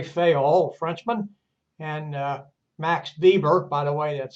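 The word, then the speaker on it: Weber: Compare the organizations of Andre Fail, Frenchman, and uh Max Bieber. By the way, that's spelled web, but pronounced Bieber as in violin.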